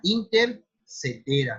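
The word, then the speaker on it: Inter caetera: Ese tratado se llamó Tratado de Tordesillas, pero nace de lo que era una bula papal, que era la intercetera, se escribe intercaetera, pero es intercetera, para que se pongan,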